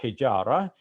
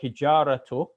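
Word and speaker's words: الحجارة: That ta marbuta in Arabic is such that if we are pronouncing it at the end of a word and we're pausing after that pronunciation of that letter, then we pronounce it as an H sound, as a ha.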